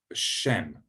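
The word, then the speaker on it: שֵׁם: So a very important word in the Hebrew Old Testament is Shem, which means name. And you can see, if you see an S with a little hat on it, that's sh, Shem.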